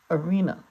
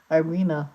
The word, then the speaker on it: Arena: I'm calling her Arena someone says erina Arena they always they pronounce it Irena oh that is not her name but I just let